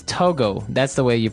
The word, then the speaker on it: Togo: um but when we talk about the country Togo mhm what do we call a person from that country tooles toges okay so it's Togo that's the way you pronounce it because if